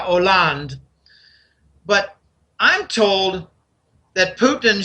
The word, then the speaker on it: Hollande: This is what Putin brought to the table to show Merkel and Hollande. A lot of people call him Holland. It's silent H in French. It's Francois Hollande.